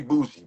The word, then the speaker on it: bougie: So now, how do you really say booie? Boozy is like the ghetto way that we wrote down to pronounce it. It's really bis. It's a French word.